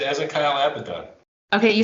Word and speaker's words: Abaddon: just a kyle abaddon it's not happen they say abaddon in the so the brits say about it there's a i'm pretty sure it's a abaddon wait wait no hang on now it's a hebrew how do you pronounce it if it's hebrew would be a baden second syllable ezekiel abaddon right here does it rhyme with aladdin or abba john i was more active okay